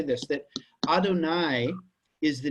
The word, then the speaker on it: Adonai: But this is by convention always pronounced Adonai.